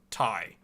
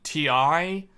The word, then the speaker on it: Ti: official name is Tai it is pronounced Thai if you go far enough back in the company's history the true way to say it the correct pronunciation is Thai it's just it's just